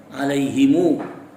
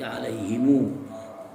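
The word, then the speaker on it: عليهمُ: Wa nahwu alaihim alaihimu anzartahumu alaihimu anzartahumu am lam, gitu ya. Bacanya begitu. Bukan alaihim anzartahum, tapi alaihimu.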